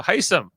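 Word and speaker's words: Hisam: we got on this episode so Jamil uh hysim which is how you say his name is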